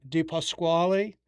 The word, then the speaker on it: DiPasquale: I am here with Robyn DiPasquale. And Robyn, did I pronounce it Yes, correctly?